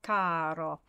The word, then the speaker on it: caro: Caro, the first syllable is the emphasized one there.